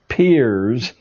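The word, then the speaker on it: Peirce: is produced he was it's pronounced peers but it's spelled as if it were pierced Charles as peers a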